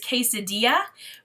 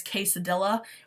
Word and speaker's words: quesadilla: last but not least is quesadilla which as some of the people in my small little Ohio in town would pronounce que cedilha which is hilarious this is by one